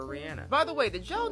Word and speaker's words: Rihanna: Same shit with Rihanna, so from now on, I will call her Rihanna.